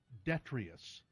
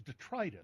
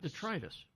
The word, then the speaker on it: detritus: to get a dictionary I always thought it was detrious you know but it's detritus detritus yeah and I but I